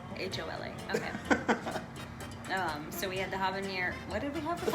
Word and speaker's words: habanero: There's no H. The H is silent.